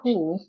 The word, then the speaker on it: who: U that becomes silent for example the word who in the word who letter H is followed by W but you have letter O after the W after the H so because of the O after the H here the H will not be silent it is a Double U that will be silent but if you have